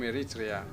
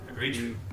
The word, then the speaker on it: Eritrea: Yeah, I'm from Eritrea. Eritrea. Yeah. Eritrea. I gotta make sure I pronounce that correctly.